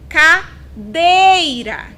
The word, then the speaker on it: cadeira: oxítona próximos exemplos cadeira cadeira cadeira o som mais forte eu emito ou pronunciar sílaba dei Então qual é a posição dessa sílaba última penúltima antepenúltima Nossa sílaba tônica é dei lembram as da Dica